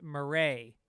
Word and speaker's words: Marais: Just wanted to say quick that Grand Marais is pronounced Marais. Drop the S.